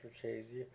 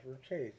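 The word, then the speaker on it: Richese: chesy and house Karina now I'm going to pronounce house for chesy as house for chesy despite several people doing reviews on YouTube who pronounced incorrectly the correct pronunciation of house foresy is house foresy and I know this because I listened to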